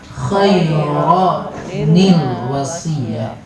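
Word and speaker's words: خَيْرًا الْوَصِيَّةُ: Khairan, annya pindah ke nun wikoyah, khairanil wasiyah.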